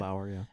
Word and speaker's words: Andlauer: So if it looks like that's not going to happen at some point, I don't think Andlauer, is that how you say it? Andlauer, yeah.